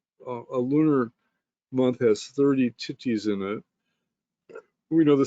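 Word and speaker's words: tithi: The the correct pronunciation is titti um and meaning lunar day and again there's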